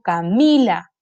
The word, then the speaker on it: Camila: está su sílaba tónica mi nombre tiene su sílaba tónica aquí en la penúltima sílaba porque yo digo camila yo no me llamo